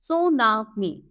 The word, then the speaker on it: tsunami: not lips lips stair now tsunami it is pronounced Sunami it is a series